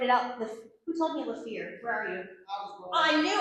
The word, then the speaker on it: Lefevre: Did I say it right? No, not at all, but nobody does. Rachelle is right. You were close. Lefevre. I always tell people that if you ignore the R, just Rachelle Leverve.